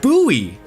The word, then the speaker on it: Bowie: There is uh Bowie Maryland, which I personally would think is pronounced like David Bo Bowie, but it's instead instead pronounced buoy like the knife.